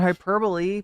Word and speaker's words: hyperbole: saying is ridiculous but he doesn't pronounce the E on hyperbole but you know I'm